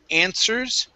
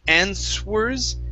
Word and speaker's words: answers: go to the word answers okay the w is silent here so instead of saying answers it's answers try that in source